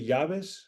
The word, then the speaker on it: llaves: But do some people say llaves?